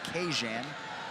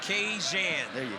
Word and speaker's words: Kajan: His first name is to be pronounced Kajan, so don't shoot the messenger. Kajan Johnson.